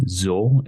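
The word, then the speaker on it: Xul: have devangelic with their album zul it's spelled x-u-l uh after that we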